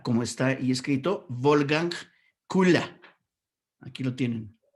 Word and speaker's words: Wolfgang Köhler: El primero se pronunciará como está ahí escrito, Wolfgang Kula. Aquí lo tienen. Wolfgang Kula.